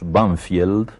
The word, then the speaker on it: Banfield: suburbios de Buenos Aires que nosotros pronunciamos banfield pero que tiene un nombre inglés banfield y ese nombre inglés